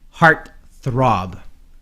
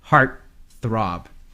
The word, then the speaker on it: heartthrob: Pitt would be a heart throb it means yeah it's part heartthrob the rock this th word is very hard for some people to pronounce so stick out your tongue the Rob you're not